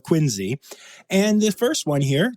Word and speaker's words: Quincy: place in quiny Massachusetts it's spelled Quincy but you can't call it that got to call it quiny and the first one